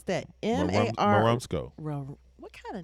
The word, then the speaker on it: Marumsco: Ooh, how do you pronounce that? MAR. Marumsco.